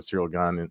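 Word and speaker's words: Ciryl Gane: gets uh has got spoken to serial gun in the past which is supposed to be the appropriate way to pronounce his name i forgot the guy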